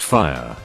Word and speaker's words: Fia: children Fruitopia, Baby Girl, and Fia, pronounced fire, and I couldn't breathe for like 20 minutes.